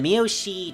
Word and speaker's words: Miyoshi: And the Miyoshi triumvirate, yeah, that's how you say it, isn't likely to give up Kyoto so easily.